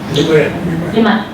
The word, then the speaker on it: Limaye: So Madhu Limaye, am I pronouncing correct? Limaye? Limaye.